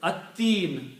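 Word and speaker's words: التين: At-Teen, surah At-Teen, lam is not pronounced, ta is pronounced twice.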